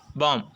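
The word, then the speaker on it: bomb: மட்டும் சைலெண்ட்டா இருக்கும் சரிங்களா பாம் இந்த இடத்துல பைனல்ல பி பாம் பி தெரியக்கூடாது பிங்குற வார்த்தை தெரியக்கூடாது பாம் பாம் அப்படின்னு சொல்லிட்டு நம்ம சொல்லக்கூடாது பைனல்ல பி இருக்கலாமா சோ அது நம்மளுக்கு சைலன்ஸ் சரிங்களா நெக்ஸ்ட் பாருங்க டவுட் டவுட்ல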